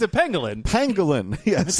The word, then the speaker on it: pangolin: It's a pangolin. Pangolin, yes. It's a pangolin. It sounds like penguin. It but sounds it's not. like penguin, but it's not penguin.